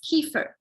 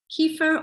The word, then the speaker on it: kefir: And that is kefir. Kefir or kefir depending how you pronounce it.